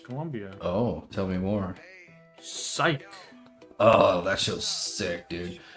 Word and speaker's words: Psych: Psych. Not sick. It's one of those weird spelling words. P S Y C H. That's how you actually spell it. It's not weird. Follow me. You're supposed to be the brains of this operation. The silent P or a silent.